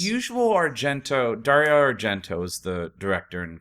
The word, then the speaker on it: Argento: Dario Argento is the director and No, co-writer. you didn't say it right. Dario Argento.